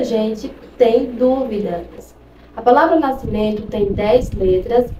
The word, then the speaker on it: nascimento: A palavra nascimento tem 10 letras e apenas 8 fonemas. Não se pronuncia o S. E o E e o N, eles têm um único som.